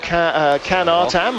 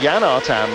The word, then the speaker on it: Can Artam: One Cruz Alvarez at the moment ahead of Can Artam, as we've been calling him, but Jan Artam, as we believe the actual Turkish pronunciation is.